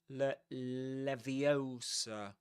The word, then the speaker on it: Leviosa: Levioser. Levio. Leviosa. Right. Levioser. And it ends with awah at the end.